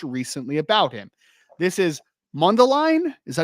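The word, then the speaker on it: Mundelein: his head coach recently about him this is mundeline is that how you pronounce it m mundeline Illinois yeah mundeline Illinois Carmel Catholic quarterback Trey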